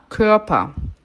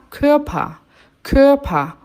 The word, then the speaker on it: Körper: A palavra corpo se diz der Körper. Olha que interessante essa palavra para a gente aprender pronúncia. O O-umlaut tem som de boca de O falando E, que.